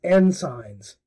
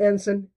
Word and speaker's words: ensign: jarring and annoying and he pronounced the word ensign as n signs yep not ensign end signs en and then signs this became my n-word